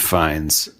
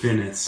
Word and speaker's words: Fiennes: Colin Farrell and Colin Farrell and Academy Award nominee Rafe, not pronounced Ralph, Rafe Fiennes. Not pronounced Finnis.